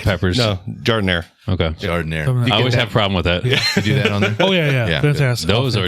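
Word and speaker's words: giardiniera: Is that how you pronounce it? That was Gardena peppers. No, Jardiniere.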